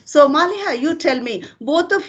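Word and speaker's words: Maliha: your name baby please you tell malha yes malha m a l i h a malha okay so now the conversation will become easy I can call you by name all right so malha you tell me both of you study in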